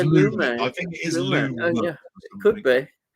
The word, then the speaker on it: Lumet: Is it Lamont? Is it most people say? It is Lumet.